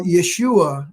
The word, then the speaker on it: Yeshua: I'm not I'm not a scholar so well Yeshua is how it's pronounced is actually Jesus's real name is that